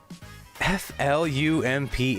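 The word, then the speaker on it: flumph: Oh, is that anamanopia or a word sounds like uh sounds like it's spelled or spelled like it sounds like flump or slough?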